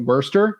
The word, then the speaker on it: Worcester: was yeah also consider Worster over there that's a good Market too to me it took me two years to learn how to say it the right way but Worster in Worcester oh Worcester yeah it's